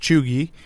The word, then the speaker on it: cheugy: Chooi, pronounced cheoogy, can be used broadly to describe someone who is out of date or trying too hard.